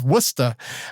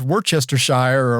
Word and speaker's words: Worcester: going to get lost that's for locals up in Massachusetts it's wora but if you you read it it's Worchester Shire or however there's as